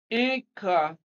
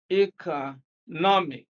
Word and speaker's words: economic: is the correct one economic economic now stress is on the second syllable from the end of the word again we are using